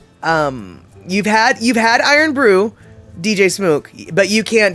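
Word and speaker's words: Irn-Bru: there I know exactly oh it's pronounced iron Brew okay well that's good to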